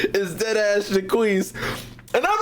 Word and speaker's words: Jaquise: they just called him Jock. Nigga, this shit is pronounced Jaquise. I'm sorry. This name is very prominent in the black community, and this shit is not pronounced Jock. This shit is named Jaquise.